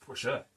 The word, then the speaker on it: Porsche: How do you pronounce it? Porsche. It's Porsche.